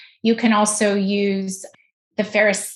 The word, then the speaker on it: Fairest: Spell it. It's FAIREST. Ferris.